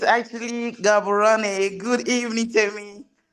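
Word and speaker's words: Gaborone: How do you pronounce that? The name of the location? Oh, it's actually Gabboran.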